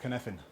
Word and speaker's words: Cynefin: So, who here has heard of Cynefin?